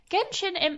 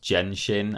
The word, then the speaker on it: Genshin: And it is Genshin it's in the odds and ends category because of course Random. Before you go any further, Ashton, can I tell you it's pronounced Genshin actually, according to the Game Awards?